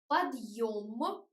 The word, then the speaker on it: подъем: Подъем, yo sounds like yo. And подъем, where yo make the soft d, подъем, without e short.